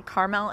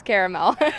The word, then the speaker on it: caramel: And do you ever get frustrated when people say caramel instead of caramel? Yes. The proper pronunciation is caramel.